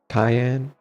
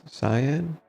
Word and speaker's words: cyan: I said cayenne, but it's cyan, right? No. Is it or is it cayenne? I don't remember what it how to pronounce it anymore. Um, how to pronounce Cyan. Cyan. Yeah, cyan instead of cayenne.